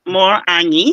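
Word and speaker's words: Morena: Plus y okay okay mine is more more an so m o r e an a n ye e more an and that's on Instagram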